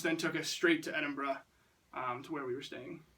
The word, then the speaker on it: Edinburgh: Scotland flag right here Scotland um edun they pronounced at Edinburgh I've been calling it a number of things edinboro I think a lot of Americans think it's Edinburgh um but we were told it's Edinburgh Edinburgh so we I might switch off I'm